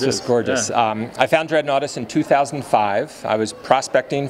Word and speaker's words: Dreadnoughtus: You discovered dreadnoughts, is that correct? Did I say it wrong? Dreadnoughtus.